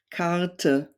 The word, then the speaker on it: Karte: German words, Sonne, Lampe, Karte. So whenever you see an E at the end of a word, it's usually pronounced like a short E, or like a schwa sound in English.